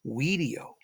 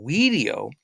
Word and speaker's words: video: it's a language video, or we should say video. Now, video is how the ancient Romans would have pronounced the V. So the V would have sounded like a W.